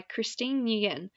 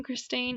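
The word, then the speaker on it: Christeine: called do you by christine ian i'm sorry i pronounced that wrong christine anyway you can find it on youtube christine so CH r IST ein e and also look for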